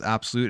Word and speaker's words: ABXYLUTE: I don't really know how to get rid of that while recording this, but here it is, the ABXYLUTE console, or the ABXYLUTE, but it is pronounced absolute.